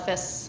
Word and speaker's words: FIS: Some people call it FIS, some spell it out.